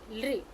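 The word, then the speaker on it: ऌ: So you say lri, lri. How we pronounce it? Lri, lri, lri. Correct. So very rare example we have of this, but we use that it has the dental sound lri, lri.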